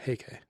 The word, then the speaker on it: Heike: Kanji, Taira, Kanji, clan, put together, it's pronounced Heike.